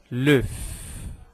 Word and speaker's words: l'œuf: Então, o ovo, eu vou dizer l'œuf. Eu pronuncio o F no final. L'œuf.